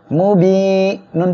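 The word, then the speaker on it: مُبِينٌ: মিম পেশ মু, বা ইয়াজের বি এক আলিফ টান মু বি। এখানে এক আলিফ কেন টেনে পড়বেন? জেরের বামে জজমালা ইয়া মদের হরফের জন্য। মু বি নুন পেশ নু, মু বি নু।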